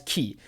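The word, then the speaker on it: Kei: volumes and it's that kyo's name should actually be pronounced as ki k-e-i instead of k-y-o i don't know japanese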